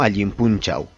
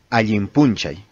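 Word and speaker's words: allin p'unchaw: Si observamos, yo pronuncié Alimpunchay y no Alimpunchau. Esta W o W la pronunciamos en quechua como Y, Alimpunchay.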